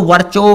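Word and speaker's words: Virchow: जिनका नाम है रुडोल्फ वर्कोव। ठीक है, कुछ बच्चे इसको वर्चो भी पढ़ते हैं, ठीक है, ये डोंट मैटर, ठीक है, स्पेलिंग सेम रहनी चाहिए।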